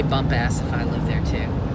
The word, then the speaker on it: Bumpass: ass virginia yeah and i am pronouncing it right this time believe me i think so yeah it could be bumpus i don't think so the lady on the phone she definitely said bump out did she really yeah